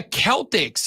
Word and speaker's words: Celtic: Dublin, Ireland, where the Celtics are from, by the way, between Georgia Tech and Florida State. I did ask Odie, who says it's pronounced Celtic. It is pronounced Celtic. And he's from Ireland.